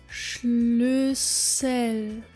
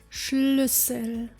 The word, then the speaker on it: Schlüssel: Schlüssel, Schlüssel. We find the sh sound in the beginning and the ü sound, as well as the double S making our Ü sound short. Schlüssel.